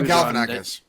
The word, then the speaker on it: Galifianakis: He was on Galifianakis. I think that's how you pronounce his name anyway, between two ferns. Oh, Galifianakis.